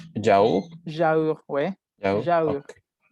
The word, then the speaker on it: yaourt: Prof, yogur, ça se prononce yaourt?